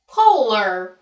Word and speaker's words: Poehler: name, and I searched on Google how to pronounce Amy Poehler, and it came up with a YouTube video that said Poehler.